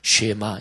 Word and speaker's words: 쉐마: 쉐마, 이게 히브리어 발음인데 이게 들으라 이런 얘기예요.